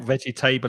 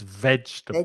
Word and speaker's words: vegetable: spanish people to say because it's like the word comfortable vegetable just three syllables yep it's not vegetable it's vegetable vegetables vegetables you must